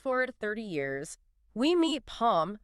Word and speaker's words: Pharm: We meet Palm, pronounced like Palm, but with a softer L, shy, introverted university freshman.